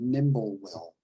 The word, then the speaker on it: Nimblewill: It's called Nimblewill. And that's spelled like it sounds, nimble, N-I-M-B-L-E, will, W-I-L-L.